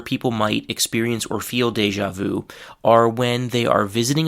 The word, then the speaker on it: déjà vu: The first uh word from this category is deja vu. That's actually the French pronunciation and the pronunciation in English is deja vu because here we have actually an established English pronunciation.